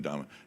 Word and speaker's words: Dame: I call him Winston Dame because that's how it's spelled, and he's over there right now playing around on the S6L having fun. And so, but I'm trying to remember. His actual name is Winston Dama.